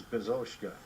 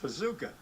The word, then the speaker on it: Bezouska: fans our name is bazooka cut the S off at its present pronounced bazooka so we were known